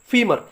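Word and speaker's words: femur: इसका प्रोनाउंसिएशन अलग अलग हो सकता है, कुछ लोग फेमर बोलते हैं, कुछ लोग फीमर बोलते हैं।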